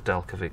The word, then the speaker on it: Delkevic: The dude at Delkevic who came out, I'm sure it's Delkevic, that's how you say it.